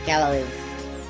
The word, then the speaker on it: Gallows: I know it's supposed to be Galois. Or Gallows. Like, that's how you pronounce it, Gallows.